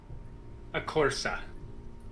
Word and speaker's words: Acorsa: How do you wish to pronounce that last name, Vaughn? That would be a Corsa.